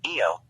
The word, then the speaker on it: Io: The customary English pronunciation of the name is Ao, though sometimes people attempt a more authentic pronunciation, Io.